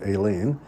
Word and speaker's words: Aileen: That's the Irish pronunciation, Aileen.